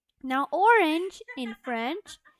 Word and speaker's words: orange: And orange in French is pronounced as orange.